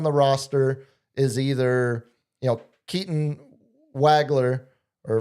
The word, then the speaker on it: Wagler: Wagler, it's the German V. The W, German W is a V, is how we pronounce a Nowitzki.